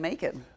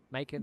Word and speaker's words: Macon: Macon, bacon, I guess it's pronounced the same way.